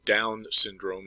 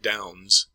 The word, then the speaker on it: Down syndrome: cell production there's also Down syndrome and you need to pronounce that correctly it's not Downs it's down syndrome and that's a defect